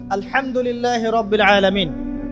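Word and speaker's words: الحمد لله: খাও অর্থ চলে এসেছে আপনি পড়ছেন আল্লাহু আকবার আলহামদুলিল্লাহি রাব্বিল আলামিন এইতো আপনি পড়ছেন আলহামদুলিল্লাহ শব্দটা কি?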